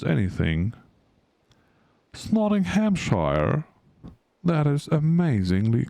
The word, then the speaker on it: Nottinghamshire: I do not mispronounce anything. Nottinghamshire.